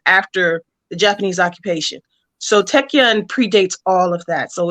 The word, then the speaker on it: Taekwondo: Like, we got to see her fighting style, which the pronunciation, is it Tekken? Tekken.